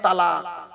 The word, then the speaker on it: তালাক: তাহলে উচ্চারণের পার্থক্য, মানেও পার্থক্য। তলাক মানে পৃথক দেওয়া, ছেড়ে দেওয়া, ডিভোর্স দেওয়া। আর তালাক মানে জুড়ে যাওয়া, মিলিত হওয়া, একত্রিত হওয়া, জমা হওয়া।